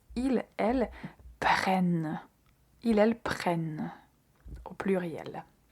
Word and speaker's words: prennent: Et pour la troisième personne du pluriel, faites attention à la double N parce qu'il faut aussi bien la prononcer. Ils, elles prennent.